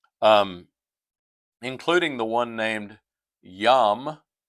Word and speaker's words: Yam: including the one named Yam, we'd spell it yam, like yam, like we're yams, uh, sweet potatoes. Of course, those vegetables are are different, but we refer to them the same way.